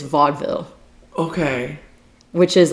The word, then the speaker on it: vaudeville: 1890 American, I looked it up how to pronounce it and my brain immediately pronounces it vaudeville, but it's not vaudeville, it's vaudeville.